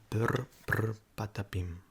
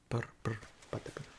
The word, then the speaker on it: Brr Brr Patapim: Brr brr patapim. Brr brr patapim. Brr brr brr brr patapim. If you can't roll your R's, we'll learn. Okay, you have to learn.